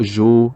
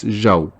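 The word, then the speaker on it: جَوْ: Let's look at one more example, the word jaw. Here we see jim, the letter jim with a fatha followed by waw and a sukoon. It's not ju, it's jaw.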